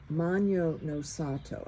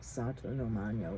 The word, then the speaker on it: Magno no Sato: But I put Magno no Sato. I've been pronouncing it wrong. I had it opposite, like Sato no Magno or something. It's Magno no Sato.